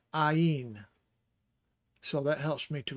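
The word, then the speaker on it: עַיִן: And the way that I remember it is because the first part of pronouncing this is I, Ayin.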